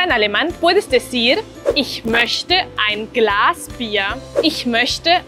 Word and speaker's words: möchte: Ich möchte ein Glas Bier. Quiero un vaso de cerveza. Recuerda, la O umlaut se pronuncia formando una O con los labios, pero diciendo E, Ö.